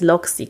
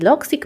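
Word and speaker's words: Logseq: teraz zaczęłam korzystać z loic i loic ma zupełnie pisze się l o g s eq to nie jest szczególnie intuicyjne także też też napiszę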